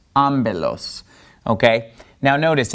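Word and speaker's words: ἄμπελος: it like a B therefore this word is pronounced amilos amilos okay now notice it's e amilos in Greek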